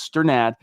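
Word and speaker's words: Strnad: It's Sternad.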